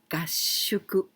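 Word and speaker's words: 合宿: me for the first of all this is kashuku with this kanji kashuku it means together together we can also pronounce yado this is kashuku well this word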